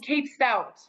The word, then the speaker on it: Cape Stout: Like cape is like as in like a superhero wears a cape, and stout as in a beer.